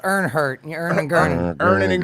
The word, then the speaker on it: Ironheart: it's pronounced Earnhart.